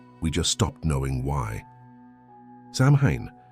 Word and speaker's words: Samhain: Sam Hayne pronounced so win like the wind through a hollow tree.